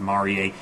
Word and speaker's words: Marie: It's spelled Marie, but it's pronounced Marier, the internet sensation.